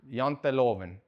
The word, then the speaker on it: Janteloven: Janteloven.